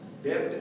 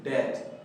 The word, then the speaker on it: debt: तो dear student, इसे हम डेप्ट नहीं, बी का साउंड नहीं देंगे, बल्कि हम इसे कहेंगे डेट, DEBT, डेट, डेट पढ़ेंगे।